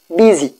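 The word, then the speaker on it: busy: কিন্তু এখানে এস এর উচ্চারণটা হবে বিজি।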